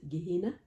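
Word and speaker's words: Juhayna: à soeg village de Jain comme il aimait le prononcer h parfois il il le prononçait avec l'accent de la Haute Égypte Guina HM ça se prononçait comme ça euh oui en haut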